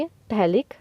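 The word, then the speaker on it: phthalic: क्या होगी पीएचपी LIC इसमें पीएच है वह साइलेंट रहेगा तो इसलिए हम इसको बोलेंगे इटैलिक एसिड आईयूपीएसी नेम क्या होगा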